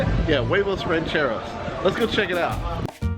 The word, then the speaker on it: huevos rancheros: Yeah, huevos rancheros.